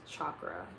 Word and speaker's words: chakra: Yeah, it's actually pronounced chakra and not chakra.